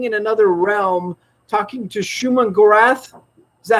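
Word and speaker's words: Shuma-Gorath: strange was standing in another realm talking to schumann gorath is that how you pronounce the name of yeah nailed it for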